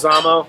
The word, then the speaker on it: Leguizamo: How do you pronounce his last- Leguizamo.